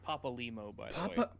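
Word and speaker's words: Papalymo: It's pronounced Papa Limo, by the way. Papa Limo.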